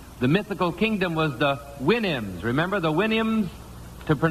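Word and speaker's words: Houyhnhnms: mythical kingdom was the Winnhams. Remember the Williams to sound to pronounce supposed to pronounce it like you do a horse's winnie I think.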